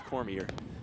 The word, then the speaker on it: Cormier: by Cormier at second I'm gonna do a better job of pronouncing her name she does not like Cormier my french-canadian blood wants to say corny a bit it's Cormier and she's at second and